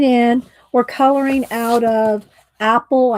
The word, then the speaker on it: Aeppol: If y'all are just coming in, we're coloring out of Aeppol, I think is how we looked it up and said how you pronounce it.